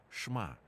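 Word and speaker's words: שמע: На івриті вимовляється шма.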